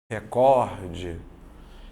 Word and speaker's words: recorde: você vai observar que se for recorde mesmo se fosse recorde mesmo teria um acento porque ela seria uma proparoxítona só que ela não tem acento Por que não porque a sílaba tônica dela tá aqui ó recorde então a última penúltima ela é uma paroxítona tá vendo aqui como